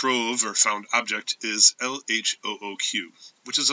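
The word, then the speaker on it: L.H.O.O.Q.: or found object is lh0 hues which is a pun the letters pronounced in French sound like shod Akula which means she is hot in the arse in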